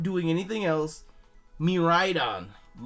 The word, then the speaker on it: Miraidon: Miraidon! That's how you say it.